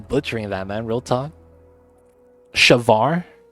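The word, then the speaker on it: chèvre: But the E with accent, it's pronounced like the A sound.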